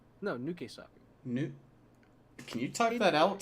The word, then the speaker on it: Nukesaku: Okusaku? No, Nukesaku.